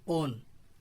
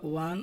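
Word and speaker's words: won: ও এন it should be pronounce ওয়ান নট ওন ওয়ান উচ্চারণটা কি করতে হবে ওয়ান Mandela ওয়ান Nobel prize in 1993 এখন দুষ্ট পোলাবানরা আবার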